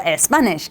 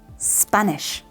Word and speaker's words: Spanish: consonant as you know we don't say a stop or a Spanish it's stop and Spanish excellent let's translate r